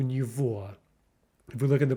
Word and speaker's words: него: Remember that v pronunciation. It's not у него, it's у него.